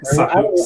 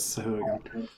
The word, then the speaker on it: Sahuagin: It's actually Not apparently Swahag. I don't know how to Sahuagin.